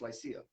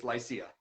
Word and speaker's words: Lycia: That's the way you pronounce a name, but LYCIA as a band is pronounced LYCIA. You can make assumptions of what we named it after, but it is LYCIA.